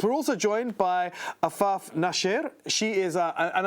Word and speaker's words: Nasher: We're also joined by Afaf Nasher. She is, and I believe that's pronounced Nasher. Is that correct, Afaf? Correct, yes, very good.